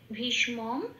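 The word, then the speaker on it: ভীষ্মম্: যেমন এখানে ভীষ, হসন্ত এসে গেছে, ভয়ে দীর্ঘের সাথে যুক্ত হয়ে উচ্চারণ হচ্ছে ভীষ। এবার মটা ম বলে উচ্চারণ হচ্ছে, কিন্তু পরের মটায় যেহেতু হসন্ত আছে সেহেতু পরের মটা আগের মার সাথে যুক্ত হয়ে যাবে মম, ভীষ্মম।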